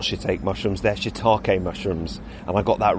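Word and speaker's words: shiitake: heard pronounced and therefore when I said holy ake on the podcast last week I should have said holy shitake so sorry about that and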